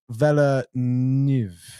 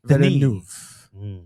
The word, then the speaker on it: Villeneuve: But his name is Denis Villeneuve.